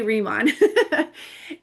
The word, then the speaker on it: Riman: This company is called Remon, or you can pronounce it however you want, but I say Remon.